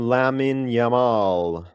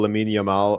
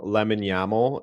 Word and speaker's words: Lamine Yamal: And they always call Lamine Yamal Lemon Yamal.